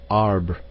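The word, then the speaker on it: arbre: in the same way he was taught to pronounce ape Sange and tree arber he was a most eager student and in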